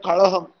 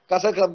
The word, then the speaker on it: Kazhagam: They don't say Dravida Munnetra Kazhagam. They said Kazhagam because it's K-Z-H-A.